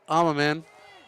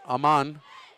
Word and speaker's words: Aman: Third and one substitution checking out for the Bearcats is Amaman. Sorry, Aman. Adding too many syllables there.